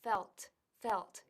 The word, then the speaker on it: felt: Ahora hay que marcar bien la T, felt, porque si no, suena a fell, que es de caer, to fall, y además es un tiempo verbal distinto.